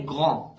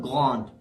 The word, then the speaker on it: grand: The last letter pronounced is A. So we say grand, not grande.